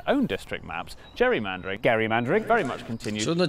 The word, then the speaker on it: gerrymandering: gain became known as Gary mandering and then everyone started pronouncing it wrong which is how it became known as Jerry mandering which was good news